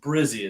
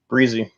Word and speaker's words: Brizzee: So, first of all, it's pronounced Brizzee. Is that correct? Brizzee.